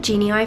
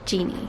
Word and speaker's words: Genei: quick note by the way i call it genie eye for the whole of this video um because that's how it's felt but it's actually pronounced genie so genie is created by students and the main aim